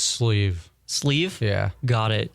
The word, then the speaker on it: SLEEV: your name in the music industry uh it's sleeve sleeve yeah got it how do you spell that s l e e v got it